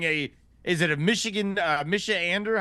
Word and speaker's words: Michigander: is it a Michigan Misha Ander how do you how do you say the the Michigan natives michigander is preferred I think michigander there you go I was pretty close um so that's happening